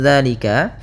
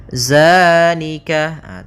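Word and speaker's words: ذٰلِكَ: Hati-hati dalam pelafalan zal, jangan dibaca dengan zai, jangan zalika. Bukan, dia bukan huruf za. Bukan dengan bacaan zai.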